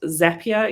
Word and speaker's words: Zapier: zapier apparently it's pronounced zapier even though they spelt it wrong and the whole idea is that it is supposed to make you happier which i read in